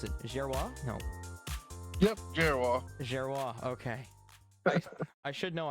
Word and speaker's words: Gerrior: And we have Nathan, oh wow, I already forgot how to pronounce it. Gerrior? No. Yep, Gerrior.